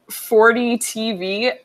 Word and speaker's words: FORDEE TV: It's 40 TV, but it's spelled FORDEE TV.